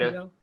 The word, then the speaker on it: Haida: Is it Hide? Haida. Haida, that's right.